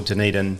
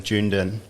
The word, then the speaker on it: Dunedin: I had a friend that used to call Dunedin Jundin. Oh. Jundin. Fair. Totally right. I mean, it's an interesting place to put the emphasis on those syllables.